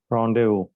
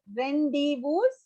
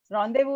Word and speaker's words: rendezvous: rule so why we don't pronounce it as randy boos any idea it's not english word when it's derived from another language yes it's different a word from french france rendezvous is to meet again